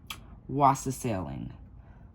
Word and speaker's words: wassailing: Now, the answer to this question, whether you got it right or wrong, is English custom of wassailing. And I swear I'm saying it right. Wassailing.